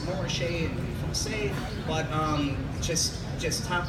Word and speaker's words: Montrachet: But in my opinion, Côte de Beaune in regions that, if you see a label that says Montrachet, I pronounce it Montrachet and Francais, but just top of the line Chardonnay.